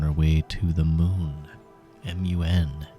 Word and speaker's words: Mun: m u n, Mun. I don't know I'll I'm pretty pretty sure it's just pronounced moon with two dots.